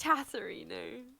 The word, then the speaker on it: Chatterino: No, it's Chatterino. Oh, Chatterino.